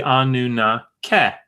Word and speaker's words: Anunnaki: So when you come to the form Anunnaki, Anunnaki, in the 1st millennium in these Akkadian texts, what they're trying to represent is probably Anunnake, right? Which is what we have in the Sumerian.